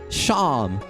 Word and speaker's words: Seam: welcome Travelers by yourself the name sham pronounced sham SE pronounced sham and this is my little sheep shop I love I love I love it his name is sham instead of seam it's his little shop